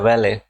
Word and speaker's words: valet: She entered, followed a valet, valet इसकी pronunciation है, mail servant होता है वैले, और वॉलेट अलग बात है जो पर्स होता है.